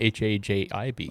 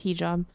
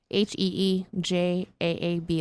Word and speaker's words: hijab: It's not Um, Hajib. Oh no, we need to get It's not a Ollie in. hijab. We need to get Ollie in on this. It's a hijab. would he know how to say it? He would know how to say it. I think it's hijab. It is hijab. Heejaab. That's how you would say it.